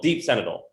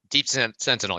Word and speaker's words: Deep Sentinel: this thing called senegal deep senator i say it right deep sentinel yep fentanyl um my friend